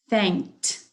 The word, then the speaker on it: thanked: Thanked. Thanked. I hear the t sound.